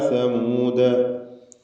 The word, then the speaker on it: ثمود: അർസൽന എന്നായി പോയത് അർസൽന ഇലാ സമൂദ. അർസൽന എന്നതിലെ അലിഫിൻ്റെ ദീർഘം മദ് മുൻഫസിൽ ജായിസ് എന്നതാണ്. 4 or 5 ഹറക്കത്തിൻ്റെ അളവിൽ ദീർഘിപ്പിക്കേണ്ടതാണ് അലിഫിന്. ഇലാ സമൂദ സാഇൻ്റെ ഉച്ചാരണം ശ്രദ്ധിക്കുക. നാവിൻ്റെ അറ്റത്തിൻ്റെ മുകൾ ഭാഗം, അതാണ് സാഇൻ്റെ മഖ്റജ്, മേലെ മുൻപല്ല്.